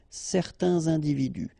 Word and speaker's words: certains individus: Individu, plural, starting with a vowel, you make the liaison, certains individus.